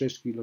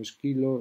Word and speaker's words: Esquilo: Sabéis que nosotros pronunciamos los nombres, esto sucede con todo lo griego, no como los pronunciaban ellos, entonces, bueno, aceptamos convencionalmente que no decimos Ésquilo sino Esquilo, Sófocles, Sófocles, y Eurípides no decimos Eurípides sino Eurípides.